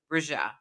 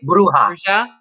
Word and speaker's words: bruja: you find those roots being at odds with Bruja? Did I say it right? Bruja. Bruja.